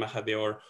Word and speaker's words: Mahadeo: No, you pronounced my name very well, Bernat, because you hablas español, see? So the Spanish way of pronouncing my name is much closer to the reality than the English.